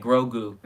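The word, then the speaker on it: Grogu: yeah yeah grosgu yoga grow goo grow girl yeah like you're growing and then goo like it's nasty like grosgu that's how you say his name so now we said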